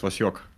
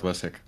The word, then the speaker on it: Vasyok: Also, apparently, apparently we've been pronouncing Sib's name wrong this entire time. It's Vashok. Yeah, it's Vasyok, not Vasek. Okay.